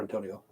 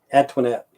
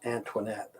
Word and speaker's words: Antoinette: Antonio. I always call her Antonio. Antoinette. I never could pronounce that name, man. It's Antoinette. Like Marie Antoinette.